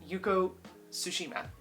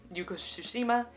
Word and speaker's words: Yuko Tsushima: Next we have Woman Running in the Mountains by Yuko, I want to make sure I say her name right, Yuko Tsushima. Yuko Tsushima, written in 1980.